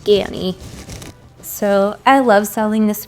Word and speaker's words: Ganni: skirt from gany I always thought it was gannie but I looked it up and it's pronounced gany so I love selling this brand it usually